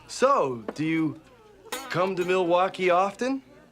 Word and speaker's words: Milwaukee: So, do you come to Milwaukee often? Actually, it's pronounced Milwaukee, which is Algonquin for the good land.